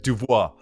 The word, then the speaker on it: Dubois: Yeah, like the French way, right? Dubois.